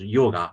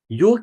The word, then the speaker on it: yoga: advice to try yoga some other people says yoga but it's a real pronunciation is York is a physical technique